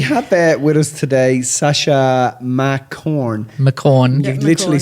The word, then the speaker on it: McCorn: So we have with us today Sasha McCorn. You literally said to me, it's pronounced like Mac and corn. McCorn, as in corn of the cob.